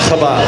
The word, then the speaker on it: Chabad: Chabad.